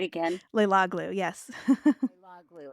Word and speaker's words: Leiloglou: Leiloglou, yes.